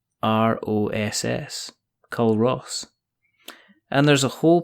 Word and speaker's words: Culross: There's a place along the road from me called Curus. Yeah. Mm-hmm. And it's spelled Culross, Culross.